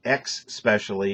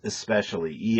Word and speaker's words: especially: And it's not X specially, it's especially. ES, not EX.